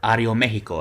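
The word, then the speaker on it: Aeroméxico: me it's always been Ario Mexico and uh or Ario Mexico as it's correctly pronounced and their first class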